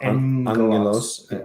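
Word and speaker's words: ἄγγελος: two gammas together, the first one becomes nasal, an N. So angelos, angelos, or os, depending again on what you want to do with your omicron.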